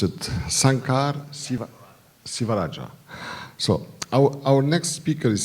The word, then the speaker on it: Sankar Sivarajah: Our next speaker is, how do you pronounce it? Sankar Sivarajah.